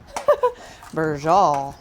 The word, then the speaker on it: Braciole: How do you pronounce what we're making, Daryl? Pasuda? Braciole.